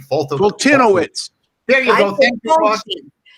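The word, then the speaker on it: Foltynewicz: I don't even know how to pronounce his name. Fultinowicz.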